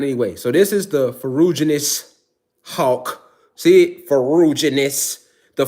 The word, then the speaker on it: Ferruginous: Okay, this is how you pronounce it. Ferruginous hawk.